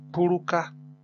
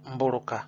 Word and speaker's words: puruka: Puruka, puruka, this is scratch, like scratching the air time, and it is not mburuka.